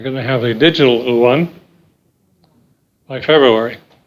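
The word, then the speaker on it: yuan: only the uh un as i pronounce it's not iwan it's uh it will be legal in china but you know they get rid of bitcoin they're going to have a digital u1 by february it's what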